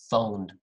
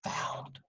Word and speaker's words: found: foul found round sound i actually hear a lot of students say phoned for this but it's found all right how when